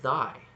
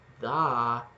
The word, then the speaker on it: thy: But then look at thy. You've got that I sound, thy, and then it closes to an e.